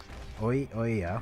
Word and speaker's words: Ouya: about is a company called oya oh yeah it's spelled o-u-y-a has a project to develop